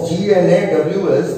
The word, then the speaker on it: gnaws: Hour upon hour he gnaws, ঘন্টার পর ঘন্টা ধরে gnaws, G-N-A-W-S, gnaws মানে হলো কামড়ায় এবং চিবোয়। জিটা উচ্চারণ হবে না, gnaws হবে না, gnaws.